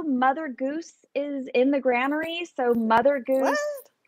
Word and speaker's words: Granary: He's actually in the Granary, right? Oh, okay. And it's pronounced Granary. I've always seen it online and been going Granary.